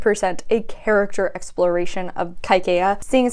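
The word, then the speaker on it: Kaikeyi: learned with the audiobook that this is actually pronounced kaikeya even when I say it like that which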